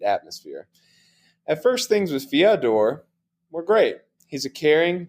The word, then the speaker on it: Fyodor: Bo, can you check me on that pronunciation? I know you're fluent in Russian. Yeah, Fyodor.